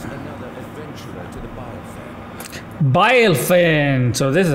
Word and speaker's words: Bilefen: Bilefen, so this is how you pronounce it.